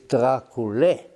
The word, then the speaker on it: Dracula: So what he meant to write was the Romanian pronunciation, which is Dracule. But in Romanian that's spelled with an E, but not Dracula. But it was somehow changed into that, and now it's universally known as Dracula, which really should have been pronounced Dracule to begin with.